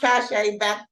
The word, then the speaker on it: Cache: It's pronounced Cash with Shay. So it's French. It means prestige. So, you know, a lot of you guys butcher me. You call me catch up, catch it, whatever makes you feel comfortable. But it's pronounced Cache.